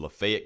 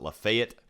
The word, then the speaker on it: Lafayette: Yes, for some reason my town pronounces it Lafayette. In that county, I'm aware of the fact that the rest of the world pronounces it Lafayette, but it's colloquially referred to as Lafayette where I live.